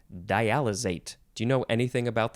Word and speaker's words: dialysate: The next word in this episode is dialysate. Dialysate or dialysate, S or Z sound.